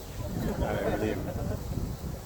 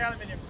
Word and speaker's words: aluminium: It's pronounced aluminium. All you Americans say aluminium. Aluminum.